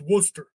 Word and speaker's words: Worcester: It's like Worcester or like Worcester. And that everyone from Mase is like, no, it's Worcester. Because we can't say our R's.